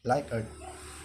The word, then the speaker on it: Likert: So, pronounced as Likert.